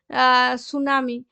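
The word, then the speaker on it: tsunami: আচ্ছা সুনামির যখন ইংরেজি শব্দটা পড়বে না তো তার আগে টি আসে। তো টিটা এখানে সাইলেন্ট থাকে। জাপানের যে সমস্ত শব্দগুলো আছে সেই সমস্ত শব্দগুলোতে বেশিরভাগই এমনি টি যেখানে থাকে বেশিরভাগ জায়গাতে এরকম সাইলেন্ট থাকে।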